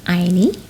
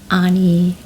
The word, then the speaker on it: Aini: My name is pronounced as Aini, but a lot of people call me Aini, Ani, Aini, you know.